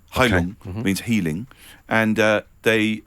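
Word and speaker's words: Heilung: pagan metal outfit and hon Hong Hong okay Hong it's spelled h e i l u n g Hong means healing and uh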